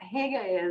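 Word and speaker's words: hygge: and I was like no it's not pronounced that way like I had to learn to be like hug like it comes from your like throat I it took me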